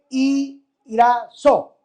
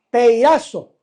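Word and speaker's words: πειράζω: Y esta palabra tentado en la Biblia, en el griego, se dice peirazo. Peirazo. O algunos le ponen el acento en la A, peirazo. Algunos estudiosos de la Biblia. Pero esta palabra peirazo o peirazó, porque se puede leer de las dos maneras, no se queda ahí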